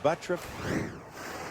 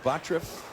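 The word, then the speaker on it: Butturff: look opening pitch goes 247 and it is butruff spelled tff pronounced butruff it's easy for you to say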